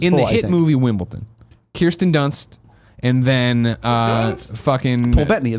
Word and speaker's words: Wimbledon: In the movie Wimbledon, Wimbledon. It's so weird how Americans, even though it's clearly spelled with a D, Americans all say Wimbledon.